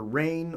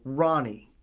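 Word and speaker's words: Rahne: It's pronounced either Rain or Ronnie, because Scottish.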